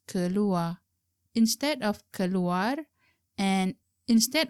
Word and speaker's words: keluar: Realize that the elder brother used keluar without pronouncing R of the word keluar, which is keluar.